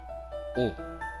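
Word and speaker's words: を: O. Então aqui nós temos uma partícula que representa o objeto direto. Então, embora esteja escrito WO, a sua pronúncia é somente O.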